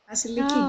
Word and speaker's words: Vasiliki: Do I pronounce the name correctly, Vasiliki? Right. Vasiliki, great.